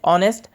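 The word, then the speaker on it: honest: uniform দেখা মানে শব্দ প্রনাউন্স করে ইউনিফর্মস্টারডে নেক্স অনেস্ট ফেস আর অনেস্ট যেহেতু এই আছে কিন্তু প্রনাউন্স করু সাইলেন্ট হয়ে থাকে অনেস্ট কোনা যায় হার আমি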